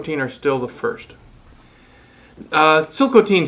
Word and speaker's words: Tsilhqot'in: are still the first silk teen spell with a t is the original way of pronouncing the word that's been anglicized as chilcotin the chilcotin country is